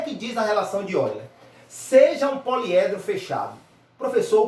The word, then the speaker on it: Euler: assim, a gente escreve Euler, né, mas a pronúncia é Euler, tá, gente? Então nós vamos estudar essa relação. E o que é que diz a relação de Euler?